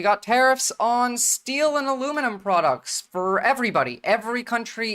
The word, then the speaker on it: aluminum: detailed and fact guys the guy who like discovered aluminum was British and he called it aluminum you guys are the the ones that say it wrong with aluminium the British guy who